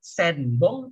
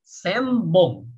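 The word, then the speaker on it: 専門: Jadi, jangan baca senbong tapi sembong ya, jadi em gitu ya. Jadi kayak gini ya, kalau di lidah itu kalau bacanya em ya kayak gini ya, jadi agak bibirnya tuh em gitu ya, ketutup bibirnya ya.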